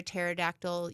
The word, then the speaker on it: pterodactyl: Why can't you hear a pterodactyl use the bathroom? Why? Anyone? The P is silent.